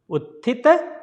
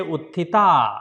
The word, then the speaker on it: Utthita: Utthita Maalaasana. Don't say Utthita, it's a Utthita Maalaasana.